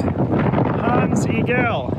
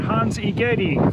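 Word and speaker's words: Hans Egede: Christianity to Modern Greenland tons Eagle even though I've been pronouncing it Hans igeti for the past two days well it was a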